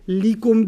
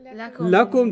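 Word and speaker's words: لَكُمْ: up on a pronoun, you can't say li. You say la. Okay, it's the same lam, harf of jar, But the only time it's pronounced la is when it's working on a pronoun.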